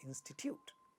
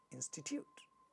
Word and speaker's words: institute: Institute, institute, the first syllable is stressed. Third syllable has a ta sound in the beginning of the syllable, but it is not getting aspirated because this is not a stressed syllable. So we say institute, institute.